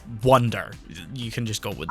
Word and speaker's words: Wunder: would be pronounced yeah it would be pronounced vinder but it's wonder you can just go